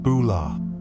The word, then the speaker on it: bula: They greet visitors with bulah, pronounced bulah, a word that means hello, but carries so much more meaning.